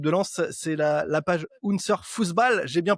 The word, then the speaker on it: Unser Fußball: Mais merci pour l'accueil et c'est très bien prononcé, c'est bien Unser Fußball.